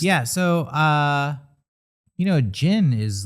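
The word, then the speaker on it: jinn: on camera and i i know it's spelled sometimes with a d like d j i n oh like a gin yeah yeah this one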